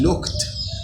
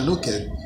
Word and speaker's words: looked: which ends in k, when you add the ed, then it gives you looked. But I know a lot of my students sometimes they pronounce it looked. It's not looked.